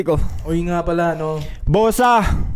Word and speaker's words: Bogsa: Uy nga pala ano bosa bosa with silent g. Mm. May silent G pa. Bogsa kasi yun eh. Pag inano mo ini-spell mo eh. B O G S A e silent G.